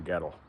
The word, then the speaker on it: Goettl: So, that's how you pronounce the name, ghetto.